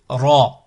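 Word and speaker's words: راء: Ici, Ra, Ra, comme Rahman, Rachid, Ra, Ra. On enroule, comme en espagnol. Un R roulé, Ra, Ra, Ra.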